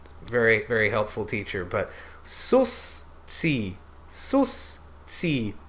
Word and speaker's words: suscipe: But susci, susci, suscipe.